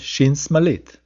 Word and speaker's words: shin smalit: The second form of shin, pronounced s, is called shin smalit.